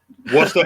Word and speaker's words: Worcester: reason i asked that because i know uh worcester let me say it right yeah yeah yeah you got to pronounce this right folks they'll murder you in mass if you don't say this right yeah worcester when i moved to louisville it was louisville